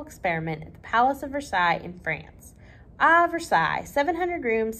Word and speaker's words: Versailles: the words here that I'm saying Versailles but it looks like Versailles like we say North Versailles they are spelled the same way but they are said differently in different parts of the world what a cob has